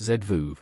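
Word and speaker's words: זבוב: half of the time in Hebrew the word for a fly is pronounced zvu which I've always thought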